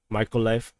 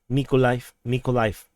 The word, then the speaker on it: Mykolaiv: So coming to the Mykolaiv or Mykolaiv. Yeah, someone corrected the pronunciation.